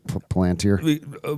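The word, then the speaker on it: Palantir: need OpenAI and and Enthropic when they have Palanteer? Because Palanteer doesn't actually have any true foundational models at the scale that grow. So, were they basically saying what model are we plugging into Palanteer?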